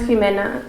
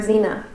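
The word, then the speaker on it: Ximena: There was a woman that I interviewed whose name was Jimena, spelled with an X, and her boss could not pronounce her name, and he called her Zena, and she hated that.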